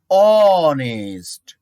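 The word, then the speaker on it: honest: Okay, he ইজ অনেস্ট। অ, এখানে দেখো এইচ থাকা সত্ত্বেও কিন্তু ভাওয়েলের সাউন্ড হচ্ছে অ, অর্থাৎ ওর মতো উচ্চারণ হচ্ছে অনেস্ট, এখানে অ্যান হবে।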